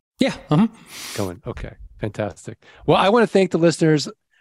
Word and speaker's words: Cohen: And am I pronouncing that correctly? Yeah. Cohen.